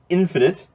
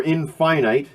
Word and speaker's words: Infinite: This is Deep Purple's last album, Infinite, or Infinite. There seems to be some debate about how that's pronounced.